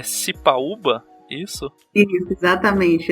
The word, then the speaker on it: Sipaúba: Agora o teu sobrenome você vai ter que me ajudar para ver se eu tô pronunciando direito. É Cipaúba? Isso? Isso, exatamente. É Cipaúba, é de uma origem indígena, é diferente mesmo.